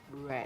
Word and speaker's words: read: But in this part, the idea is that we identify that read no cambia en pasado la forma de escribirse, pero sí la pronunciación. Red. Okay? Red. It's like the color. Yes, Like red. the color.